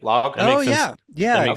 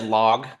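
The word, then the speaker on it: Logh: Log. That's a good lateral move. I believe it's said log. It's L O G H.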